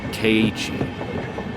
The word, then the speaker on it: Keiichi: I'm assuming it's pronounced Keiichi. Because there's two I's in the center, so you would have the first I pronounced in K, and then the second at the beginning of Ichi.